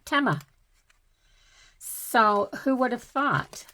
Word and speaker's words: Temu: the commercial for team I've been calling it teu all along not knowing how to pronounce it of course and they called it uh TMA so who would have